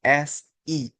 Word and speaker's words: x: Nah, X. Nah, X itu dibacanya seperti apa? Apa X X? Tidak. Jadi, X itu dibaca dengan ee kita pinjam huruf S. Oke. S I ya. Tetap si C si.